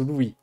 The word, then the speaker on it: Luis: Louis attends Louis se Louis ou lui mais je pense pas c'est pas lui c'est à mon avis c'est Louis ça se prononce à la à l'espagnol à la espagnol prof de